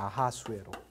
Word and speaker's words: 아하스웨로: 근데 크세르를 히브리 사람들이 발음할 때 크세르라고 하지 않고 흐세르라고 발음했다고요. 후세르라고 발음하다가 이거를 R을 넣는데 아하스웨로라고 발음합니다. 아하스웨로.